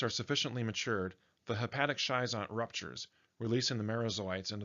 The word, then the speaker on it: schizont: This word schizont may also be pronounced schizont or schizont, depending on the person speaking. We'll go with schizont for now.